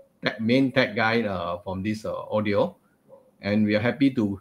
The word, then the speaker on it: Awedio: uh audi arnold audi audio so i always thought of the car not audi audi you know it's actually pronounced as audio a-w-e-d-i-o so with me today